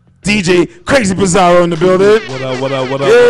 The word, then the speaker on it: Bazarro: DJ Crazy Bazarro in the building. What up? Yeah. AKA Crazy DJ Bazarro.